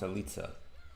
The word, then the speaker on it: Alice: Actually, I think it's pronounced Alitza because she's Italian, but I'm definitely never going to be able to remember that, so we work with what we got.